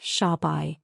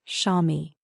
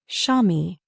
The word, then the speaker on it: Xiaomi: two characters and said, "It's not Sha." These two characters are pronounced Xiaomi. Repeat after me. Shami.